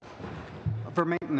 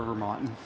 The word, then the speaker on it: Vermaeten: Vermeeten is good, but I prefer Vermonten.